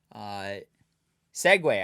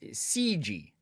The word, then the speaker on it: segue: Segway. I thought it was pronounced CG. I thought the only segue was Segway. Hey, that's a weird one